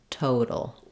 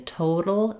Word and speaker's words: total: between these two um also if you're having trouble here it might be that your o in total is not enough of an o sound you might be going a little more to an A or an a sound and then you're not distinguishing these very very well um